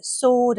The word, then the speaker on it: sword: Sometimes, not always, here sword and answer, we don't say the W.